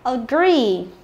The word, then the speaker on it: agree: Tiếp theo chúng ta có agree, agree, được chưa nào? Rồi là guarantee, guarantee, được chưa nào? Rồi, như vậy là cứ nhìn thấy hai chữ ee thì phải đoán ngay là gì? Y dài, đúng không?